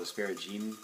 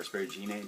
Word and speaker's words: asparagine: causes the diuretic properties, called asparagine, or asparagine, depending on how you want to pronounce it, is not the same thing that causes your pee to stink, actually, believe it or not.